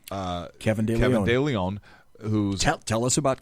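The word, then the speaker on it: de León: Leon right Leon yeah Leon not not de Leo he he pronounces it de Leon it's Leon yeah it's Kevin Kevin Leon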